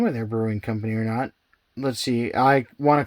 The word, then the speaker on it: Orono: so we are at how do you say your name yeah or no brewing i know the gps probably says around out but that's not right yeah i don't know